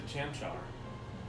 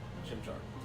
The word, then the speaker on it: Chimchar: I prefer Turtwig, but I picked a Chamchar. Chimchar. Chimchar. I've always pronounced Chamchar.